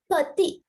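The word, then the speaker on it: petit: So, pati, we do not pronounce the last letter.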